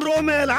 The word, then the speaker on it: রোমেল: আমার নাম রুবেল না, আমার নাম রোমেল, ROMEL।